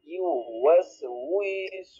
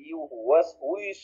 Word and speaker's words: يوسوس: আপনারা এই ওয়াওটা কিন্তু লম্বা হইতে চায়, আমি না থাকলে কিন্তু লম্বা হয়ে যাবে। আমি এখন আসছি দেখে লম্বা হয়তো অতটুক হয় নাই, এই জন্য এটা খেয়াল রেখে পড়বেন যে উই যেন টান না হয়ে যায়, খেয়াল রাখবেন।